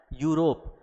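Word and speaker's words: Europe: अब यहाँ देखो, ये है तो यूरोप, लिखा हुआ है ई से, यानी कि जो अल्फ़ाबेट है वो क्या है? ई है। अल्फ़ाबेट क्या है? ई है, लेकिन इसका उच्चारण क्या आ रहा है? यूरोप।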